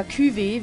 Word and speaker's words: Cuvée: Oder Cuvée, wie es im Französischen ausgesprochen wird.